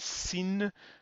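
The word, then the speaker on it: שׂ: do this is because if we just use a regular s then there could be some confusion once again with the S which is also a regular s and because of that we have to make the sin individual and and uh special if you like and we do that by adding a small diacritic Mark above it like that so we've got two sounds there shin and sin none of these have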